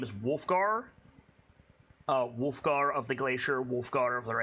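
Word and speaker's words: Wulfgar: I've said Wolfgar's name wrong so many times across DA, but now I've seen it written out, and so yeah, it's Wolfgar.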